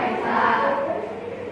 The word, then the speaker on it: Esa: Jadi yang betul pengucapannya atau mengeja yang betulnya adalah ketuhanan yang Maha Esa.